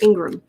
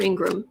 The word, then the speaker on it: Ingraham: going on here eileen says it's pronounced ingraham's pronounced ingram i thought so i thought it was laura ingraham but it's not how it's spelled so again